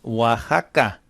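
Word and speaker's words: Oaxaca: then we have a state in Mexico called Waka it's sounds like it would be spelled that way but it's not it's spelled just like thata and if you're from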